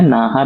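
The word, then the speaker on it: Naja: நாகா. இது இந்த ஜேன்னு வந்திருக்கும். ஆனா இந்த ஜே வந்துட்டு நீங்க ஹெச் மாதிரி தான் ப்ரொனவுன்ஸ் பண்ணணும்.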